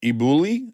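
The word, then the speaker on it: elBulli: where you get a job at 18 at iuli is that how you say it yeah most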